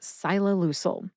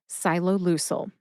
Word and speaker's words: ciloleucel: And if you say it super fast, it sounds like ciloleucel. Emphasize SYE and LOO. LOO gets slightly more emphasis. See if you can hear the emphasis when I say it again. Ciloleucel.